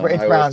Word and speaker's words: Braun: It's spelled Braun, yeah, but it's Brown Town.